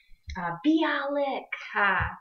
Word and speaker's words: Bialik: I'm bad at pronunciations. I'm so bad. Bialik.